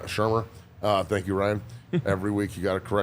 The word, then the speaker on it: Shurmur: I can't pronounce his last name, so I'm not going to try. Shurmur. Shurmur.